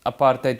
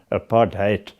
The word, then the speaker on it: apartheid: The policy of separate development, which the media must mysteriously branded apartheid with the accent on the H A T hate.